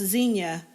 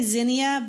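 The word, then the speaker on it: Zinnia: n i a yeah in the middle part of the country I guess at least in Oklahoma and in Indiana it's pronounced Zenia I do sometimes say Zenia but not very often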